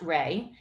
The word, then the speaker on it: rei: into two words rey rei pronounced rey and ki and rey